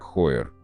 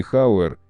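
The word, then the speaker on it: Heuer: Так Хойер. Не Хауэр, не Ауэр и даже не Йор, есть и такие смелые предложения. Часовое производство Хойер было основано в Швейцарии в 1860 году швейцарцем Эдуардом Хойером.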